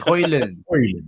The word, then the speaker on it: Haaland: There was a clip of it going viral the other day of him pronouncing it himself, and I think he said it was Haaland. Oh, so it's Haaland.